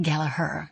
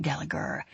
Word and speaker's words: Gallagher: My grandfather, Owen Gallagher, pronounced Galaher, not Gallagher, valued the story above all else.